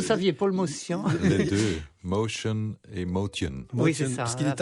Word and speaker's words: Motian: Les deux Motion et Motion. Parce qu'il est arménien. Il est arménien. Il paraît que si on est arménien, ça se prononcerait plutôt motien.